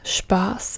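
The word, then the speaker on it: Spaß: Spas as an example you don't pronounce it like an S but again like a sh so Spas whenever you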